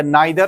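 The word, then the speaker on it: neither: नीदर ऑफ द boys brought his book is correct.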